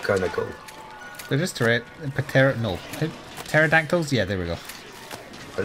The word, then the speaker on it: pterodactyl: They're just pterodactyls? Yeah, there we go. Are they? Pterodactyls, but it's spelled with a P.